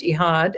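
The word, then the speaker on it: Echad: E C H A D, but it's pronounced Eihad. I just was corrected the end of March uh at an event in Florida. Um because you don't pronounce the C just like the hala bread starts with a C.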